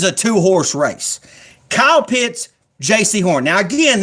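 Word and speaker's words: Jaycee Horn: J.C. Horn, cornerback from South Carolina. J-A-Y-C-E-E for all you people that don't know how to spell J-C.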